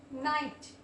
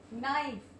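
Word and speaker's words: knight: में भी यहां पर जो के है वो साइलेंट है ठीक है ये साइलेंट हो रहा है कब साइलेंट होगा अब आप इसको क्या बोलोगे नो अब के को प्रोनाउंस नहीं करेंगे नो नॉट नाइट नाइट तो यहां पे कब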